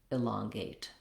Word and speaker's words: elongate: Use that same technique of starting on the stressed syllable. That would sound like longate, elongate.